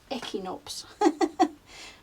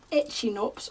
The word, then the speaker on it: Echinops: that you said um that's how you pronounce it echinops not itching UPS or eat chin UPS as I was saying